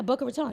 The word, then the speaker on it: Boca Raton: Yeah, Boca Raton.